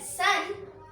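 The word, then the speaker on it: son: S-O-N, sun. S-U-N, sun. We pronounce both the words same only, but it has a different spelling and different meaning.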